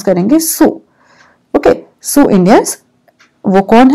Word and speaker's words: Sioux: Hum isko pronounce karenge Sioux.